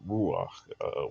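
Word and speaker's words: רוח: And so in the Hebrew, you write the word ruach with the resh, vav, and chet, right? So three letters, but it's pronounced with the ah as the vowel.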